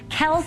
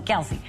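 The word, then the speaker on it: Kelce: the winds this month yes I said Kel Kel is actually how you pronounce his name it drives me crazy everyone calls him Kelsey so uh without you know question what a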